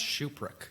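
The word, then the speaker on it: Tschupruk: sure how to pronounce shuprick now can you spell it no h-u oh I've done that um is there a like surprise X's there no that's the t is silent it's actually t-s-c-h-u-p-r-u-k wow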